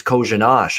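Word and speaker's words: Kořenář: uh but then i it was kojinash i realized the last r was also an sh sound so then right yeah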